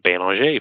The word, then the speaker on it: Belanger: People, Michelle actually, she pronounces her last name Belanger, from what I understand.